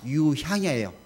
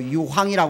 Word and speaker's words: 유향: 아멘 두 번째는 양이에요 유이 아닙니다 유향이 우리 자꾸 발음을 잘못해서 유황이 이야기하는 분도 계신데 향입니다 향수할 때 향자 그래요 향기를 받을 때